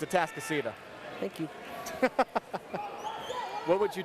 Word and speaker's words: Atascocita: Atascocita. It's a Atascocita.